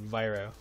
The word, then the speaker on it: Vero: some reason I read your name as Vero everyone reads it as that very few people have gotten the name um Viro I just roll with